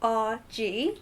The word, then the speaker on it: RG: His name is actually RG, despite all of you who think it's Archie, it's RG.